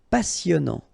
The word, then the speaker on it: passionnant: Final T not pronounced. Passionnant.